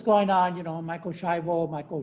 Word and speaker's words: Schiavo: on you know michael schreibel michael chiabo you hear different pronunciations uh it's actually it's an italian last name and i can tell you that that is pronounced schiabo all right because just